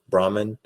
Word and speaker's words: Brahman: or Supreme Being right Brahman or am I saying right no no you pronounce Brahman yes you pronounced it right yeah and uh so